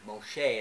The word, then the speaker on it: Moshe: generation to generation from Moses, or Moshe as we say his name in Hebrew.